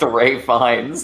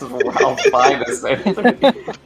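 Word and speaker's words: Ralph Fiennes: I thought you mispronounced Ray Fines as Ralph.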